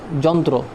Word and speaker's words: যন্ত্র: যদি যুক্ত থাকে তখন যেমন যন্ত্র যন্ত্রতে কিন্তু একটা তোমার র একটা যুক্ত আছে যন্ত্রতে লাস্টে এখন আমরা যদি উচ্চারণ যদি দেখে থাকি এখানে কিন্তু র এর কোন অস্তিত্ব নেই যন্ত্রতে কোন র এর